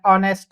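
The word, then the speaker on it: honest: ये नेस्ट नहीं है एच इसपे साइलेंट हो जाता है ऑनेस्ट हम पढ़ते हैं वैसे आवर में एच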